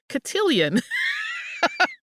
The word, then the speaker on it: cotillion: introduced into English-speaking areas that name morphed it got an extra syllable as cotillion extra eye sometimes it comes out as a syllable depending on how Southern your accent is in the 18th century